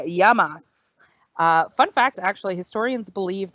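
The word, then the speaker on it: γεια μας: It's yamas. See, it's nice and easy, yamas. And this is actually how you say cheers. So when you're clinking your glasses of wine or ouzo, you'll say yamas.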